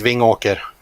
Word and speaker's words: Vingåker: So, Marcus, we were told in the chat to ask you how you pronounce the name of your hometown. It's Vingåker.